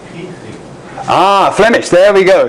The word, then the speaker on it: kriging: The English verb is to kridge, and the most common noun is kridging. Both are pronounced with a hard G. I thought in French, Hans, they're pronounced with a soft G, kridgeage.